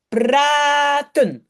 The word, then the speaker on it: praten: Donc je sais que il y a A qui a été coupé parce que je prononce A et pas a. Je dis pas praten, je dis praten.